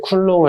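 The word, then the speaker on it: Coulomb: 전화 같은 경우는 단위를 쿨롱을 했습니다 쿨롱 또는 쿨 놈이라고 읽어도 되고 쿨롱이라고 읽어도 상관없습니다 보통 과학자 이름을 많이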